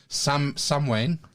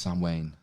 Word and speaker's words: Samhain: Sam Wayne. Sam Wayne? Who? Sam Wayne. That's the old Celtic. Sam, yeah. Oh, right, okay. Well, it's spelt Samhain, but it's pronounced Sam Wayne.